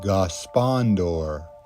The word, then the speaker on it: Gospodor: I think you say it like Condor, but Gospondor in Toledo, Washington.